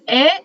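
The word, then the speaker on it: へ: the KN and then the verb at the end we also have another similar particle this is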